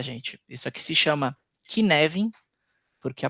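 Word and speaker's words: Cynefin: Isso aqui se chama Kineven porque a pronúncia é do gaulês, mas se alguém quiser pesquisar, se escreve assim, ó. Nefim, né? Mas se pronuncia queven porque é gaulês.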